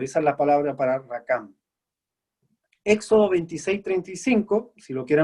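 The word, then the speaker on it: רקם: Ahora la palabra entretejer que usa aquí en hebreo es rakam. Se escribe R-A-Q-A-M, rakam.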